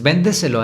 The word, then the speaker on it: véndeselo: Véndeselo. Si se dan cuenta, ven es la sílaba tónica.